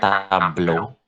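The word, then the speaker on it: tableau: ada ya Hei nah tablets ini bacanya Tablo Tablo koplo yang logo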